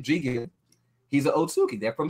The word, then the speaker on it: Jigen: Jingen, how do you say his name? Jigen.